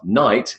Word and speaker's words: knight: Night is the same as the opposite of day, night, with a silent K. So the pronunciation is night, N, I, and T, 3 sounds, including the central diphthong.